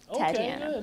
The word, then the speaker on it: Tatiana: Sean, how do I pronounce her name? Sam Tatiana. Tatiana.